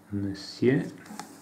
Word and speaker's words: monsieur: casi della essere plurale non si pronuncia monsieur come in italiano fu desire da voi